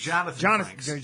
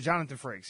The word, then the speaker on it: Jonathan Frakes: Jonathan Frakes. Jonathan Frakes.